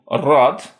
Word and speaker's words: рад: This contrasts with so-called soft consonants, where the front of the tongue is brought close to the hard palate, giving a higher pitched, palatalized sound. Examples include rad, glad, and riad, row or line. Rad, riad, rad, riad.